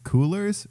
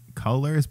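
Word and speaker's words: Coolors: also kind of quick it's called coolers or colors but it's spelled c-o-o-l-o-r-s and basically it's a cool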